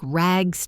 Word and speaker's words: rags: Note the Z sound at the end of rags.